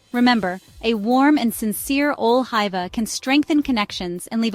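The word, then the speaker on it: ole hyvä: Ole hiva is pronounced ole hiva with the emphasis on the second syllable of hiva. The O sound is similar to the U in fur, but with rounded lips.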